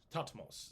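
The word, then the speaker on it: Thutmose: is hutmos the third topmost would be probably pronounced but it's t-h-u-t-m-o-s-e tatmos so uh uh thought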